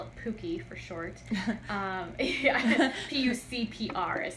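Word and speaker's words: PUCPR: pontifical catholic university of parna we call it pookie for short um p-u-c-p-r is how it's spelled uh the but we pronounce it pooky because brazil you don't prince it's a long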